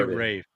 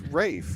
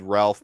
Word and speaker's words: Ralph: How do you pronounce Ralph? it does say Rafe. It's Rafe, yeah.